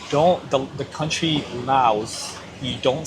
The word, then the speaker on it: Lao: pronounce the S because that describes the country. Lao without the S describes the people and the language.